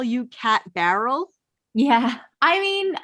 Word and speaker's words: Barrell: And actually sometimes I say it Barrel when I'm trying to spell it for people because it's just so much easier. But it is Barrel.